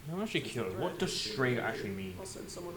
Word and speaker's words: Strega: I believe pronounced Strega, not Strega.